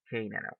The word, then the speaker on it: Canada: the first one is the word canada canada where do you think it's the stress word canada yes the first stress well the stress work is in the first syllable so that's why you